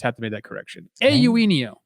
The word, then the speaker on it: Eugenio: Speaking of confused, I've been calling Eugenio Suarez forever. But turns out it's a Eugenio. Promise you, it's not. You got to do the A first. Eugenio.